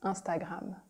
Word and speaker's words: Instagram: Instagram becomes Instagram. Here we really pronounce the French nasal sound. IN in French is un. Instagram.